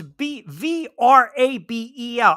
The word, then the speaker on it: Vrabel: No, it's Vrabel. I get it, not G Grable.